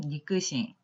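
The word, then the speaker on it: 肉親: 혈족 관계에 있는 사람을 보통 육친이라고 표현을 합니다만 육친이라고 쓰고 발음은 니끄싱, 니끄싱이라고 합니다.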